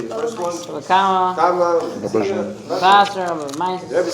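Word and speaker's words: Kamma: Kama.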